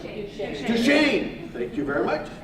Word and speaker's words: Duchesne: And am I pronouncing it right? Duchesne, right? Duchesne.